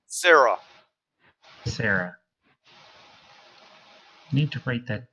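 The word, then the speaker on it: Cyra: our other Mage I keep forgetting her name Sarah Sarah need to write that down c y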